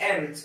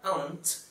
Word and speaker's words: aunt: Só que esse aunt que eu estou falando, ele é pronunciado geralmente nos Estados Unidos, e a sonoridade é praticamente idêntica a ant, formiga. Então, eu particularmente prefiro pronunciar aunt, que para mim é um pouquinho diferente de ant.